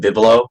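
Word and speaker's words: Vivelo: It's at Bibelo, and it's pretty much just my full name. And Bibelo is spelled as V as in Victor, I as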